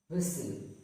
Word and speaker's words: whistle: Hustle, whistle.